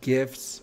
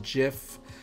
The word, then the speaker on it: GIF: are you team gif are you team jiff um i know it's graphic something something right so i'm pretty sure it's a gif i used to pronounce